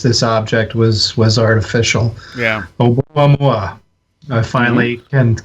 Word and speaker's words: Oumuamua: Oumuamua.